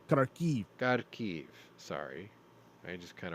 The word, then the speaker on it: Kharkiv: It's pronounced Kharkiv.